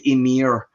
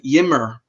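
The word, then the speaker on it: Ymir: there's a a perfect example is like with emir Emir or a lot of Americans call it you know yimmer uh the Emir uh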